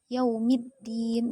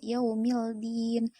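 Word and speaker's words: يوم الدين: dari segi bacaan itu Alif lamnya tidak terbaca langsung langsung yaumiddin bukan yaumildin Padahal di sana ada alif lam nah ini bacanya adalah yaumiddin Nah itu dari segi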